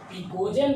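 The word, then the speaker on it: pnictogen: Family name, इसका जो family name है वह है पिकोजेन फैमिली। एन साइलेंट होता है यहाँ।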